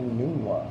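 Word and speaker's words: Enunwa: Quincy and That would be a Nunwa. All right. Wow. He Nunwa. looked it up on Webster's to see the exact pronunciation.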